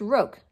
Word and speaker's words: roque: It's pronounced roque, Daddy was saying.